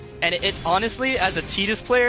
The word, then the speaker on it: Tidus: oh and obviously guys you pronounce his name as tetus because uh because the Japanese name for him is TAA so his name is tetus all right anyone have